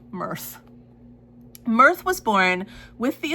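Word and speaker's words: Myrthe: So Mirthth is the name of the girl is the name of the Wistress, but it's spelled M Y R T H E. Mirthth.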